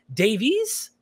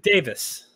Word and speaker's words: Davis: like a butcher in your name is it Davies don't start man you finally you finally got it right dude Davis Just Go With It JVS is the correct